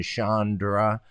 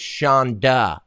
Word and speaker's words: Chonda: facebook what's your thing Chandra well first of all it's Shonda there's no arm it's CH o in da I mean everybody knows that are you serious so